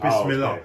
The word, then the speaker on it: Bismillah: No, it's Bismillah. Oh, okay. So it means in the name of Allah. Yeah, Bismillah means.